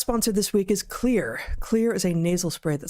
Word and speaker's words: Xlear: It's Xlear that's X-L-E-A-R but it's pronounced "clear."